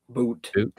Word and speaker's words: But: Is Daniil Butte? Boot. Boot. Looks like butt.